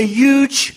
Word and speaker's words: huge: does he say huge so if you were to look at the original pronunciation in terms of what sounds sort of should make up this pronunciation here of huge it should be a huh followed by a sound so that's a glottal fricative as well as the palatal approximate yeah but what's happened is